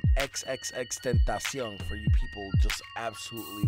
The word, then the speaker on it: XXXTentacion: By the way, that's how you say his name, XXXTentacion, for you people just absolutely massacring this man's name.